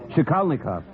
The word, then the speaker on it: Shikalnikov: Would you mind repeating that? Shikalnikov. It's Polish.